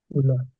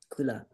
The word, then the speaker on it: kula: Paying attention to long and short. Kula. Kula.